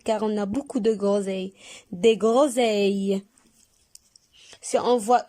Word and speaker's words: groseille: On a toujours le son E qui s'écrit avec les lettres E, I, L, L, E. Et on ajoute S du pluriel.